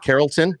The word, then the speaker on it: Carrollton: Carrollton?